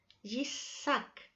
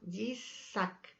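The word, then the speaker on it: יצחק: Ahora es interesante que ustedes sepan que si nosotros pronunciamos el nombre de Isaac en hebreo, Yitzhak, es una sonrisa, reirá, ¿ya? Por eso que dice: todo el que lo oiga reirá conmigo, Yitzhak.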